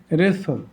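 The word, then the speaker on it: wrestle: আমরা আবার বলছি, ওয়ার্ডের মধ্যে বা শেষে যাই হোক, এখানে SLT এর উচ্চারণ সল হয় আর টি অনুচ্চারিত থাকে। যেমন এখানে রেসল, ডব্লিউর উচ্চারণ তো হয় না, টির উচ্চারণ হচ্ছে না।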